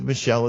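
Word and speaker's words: Michal: like David's probably with Michelle at this point or Michael depending on how you want to say her name uh in his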